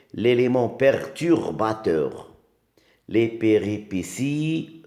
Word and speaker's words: péripéties: T l'élément perturbateur les péripéties regardez bien là aussi il y a un T qui se prononce s le délouement et la